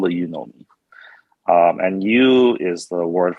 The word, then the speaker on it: Yunomi: let's let's start with the pronunciation it's you know me and that's that is